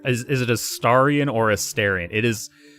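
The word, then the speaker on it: Astarion: a starian it is so the character pronounces it astarian like when he introduces himself to you he pronounces it a Starion however I do believe throughout the game you hear other people pronounce it as Starion so I think it's either I don't think it matters which way you say it I just like saying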